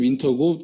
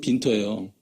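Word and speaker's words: Winter: 빈터라고 나와 있는데 영문으로 따지면 윈터고 독일식 발음이 빈터예요.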